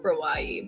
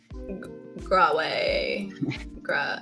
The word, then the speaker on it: Grawai: So I was like, it sounds like kawaii, so it's Grawai, but I get so many amusing pronunciations. Like I go on Twitter Spaces a lot, and people are just like Graway. It's mostly just Graway, which is cool too.